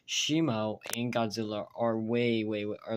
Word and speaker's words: Shimo: I figured out the correct pronunciation, Shimo, not Shimu, by the way.